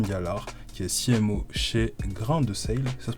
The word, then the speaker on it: Grain de Sail: Aujourd'hui, je suis accompagné de Stéphane Gallard, qui est CMO chez Grain de Sale. Ça se prononce comme ça? Grain de Sale. Exactement, Ok, grain de sel.